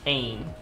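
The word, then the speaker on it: Agne: It's spelled A-G-N-E, but the G is... Anne. Okay. So it sounds like Ain in rain. Ain.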